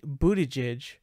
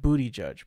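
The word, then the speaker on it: Buttigieg: mayor Pete but he it's Pete Budaj which oddly sounds like if you read his last name it pretty much looks like booty judge pretty much that's what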